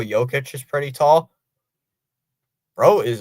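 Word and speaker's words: Jokić: It does sound like how the way you said it like yoke itch.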